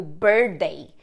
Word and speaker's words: birthday: que a gente acaba falando rap bem o Birthday mas em inglês e sei Birthday is E